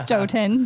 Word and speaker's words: Stoughton: just outside of Madison it's a town called Stoughton it looks like stuffed in that I pronounced Stoughton because everyone's white so what made you move